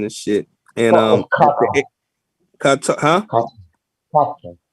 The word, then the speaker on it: Qatar: Qatar. That's how you pronounce it. Yeah, Cotter or Cotter.